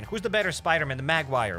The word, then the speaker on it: Maguire: Toby Maguire. Oh, Magguire. Toby Magguire. Okay, it's not Magguire, it's Maguire.